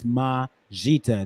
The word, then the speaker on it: Majita: It's Majita. That's how you say it.